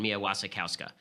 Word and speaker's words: Mia Wasikowska: So if you're into this sort of thing, very good production of Jane Eyre with Michael Fassbender and Mia Wasikowska is how it's pronounced.